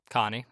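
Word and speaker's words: Conny: to uh coney right uh connie but yes connie but they pronounce it coney because uh they pronounce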